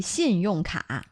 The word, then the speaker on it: 信用卡: Credit card in Chinese would be 信用卡. 信用卡. 信用 is literally credit, and card is a card, 卡.信用卡. Are you using two syllables there? 信用卡啊? No, 卡 is one syllable.